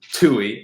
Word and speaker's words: Toohey: Alex Toohey, I believe is how it's said. I don't think you pronounce the H super hard.